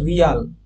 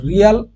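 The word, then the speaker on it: real: currency কার কার রয়েছে রিয়াল রুবেল rupees রেমেনবি এবং রান প্রত্যেকের আর আছে দেখো ব্রিক্স কান্ট্রি রেগুলার এই কারেন্সি গুলোতে প্রত্যেকটার আর রয়েছে রিয়াল এটাকে একচুয়ালি রিয়াল নয় রিয়েল উচ্চারণ হবে রিয়েল ঠিক আছে উচ্চারণটা হবে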